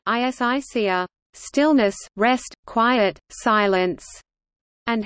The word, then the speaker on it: ἡσυχία: Hesychasm, Greek, Hesychasmos, contemporary Byzantine Greek pronunciation, Isixazmos, derives from the Greek Hesychia, Hesychia Greek pronunciation, Isicia, stillness, rest, quiet, silence, and Hesychazo Greek pronunciation, Isizazo, to keep stillness.